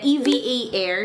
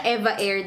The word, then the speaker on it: EVA Air: We are flying via EVA Air. Hindi siya Eva Air daw. EVA Air daw ang pag-pronounce sa kanya.